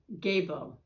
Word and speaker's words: Gebo: have the letter g gebo gabo is how they pronounce it and the theme is